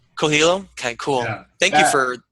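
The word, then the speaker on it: Coelho: Co Coello how do you say his name cilo cilo okay cool thank you for yeah actually he's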